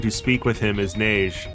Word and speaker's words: Neige: speak with him is Neige. It's French, like every other damn name in this franchise, and yes, that's how you say it, that's how they say it even in the audio drama, do not fucking chowd me on this one.